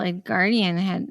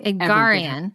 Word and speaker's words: Edgarian: With Carol Edgardian is that her name? I always say her name wrong. Anyway, I don't. Edgarian. Yeah, there you go. That sounds right.